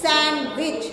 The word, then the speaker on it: sandwich: Sandwich, sandwich, sandwich, D silent.